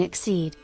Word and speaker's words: Xyz: Fun fact, the Yu-Gi-Oh term XCY is pronounced Xyz as in exceed.